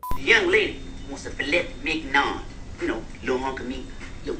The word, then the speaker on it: filet mignon: How do you pronounce it? The young lady wants a filet mignon.